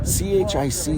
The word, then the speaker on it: chic: CHIC is chic.